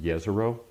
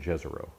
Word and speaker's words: Jezero: It's pronounced Jezero, but the NASA folks have been saying Jezero, so I'm just saying Jezro.